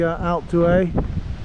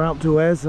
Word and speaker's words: Alpe d'Huez: know it as well, the Alpe D'Huez, or Alpe D'Huez, I think they might pronounce the Z, where the Tour de France sometimes takes the riders up to the top of that summit.